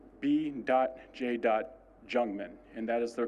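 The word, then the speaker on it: Jungmann: jungman and that is the correct pronunciation after the Chiefs read statements they will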